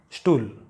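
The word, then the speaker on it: Stuhl: If it appears in the beginning of a word, you should pronounce it as st. Like there should be sh in the beginning. St. Like for example, stool.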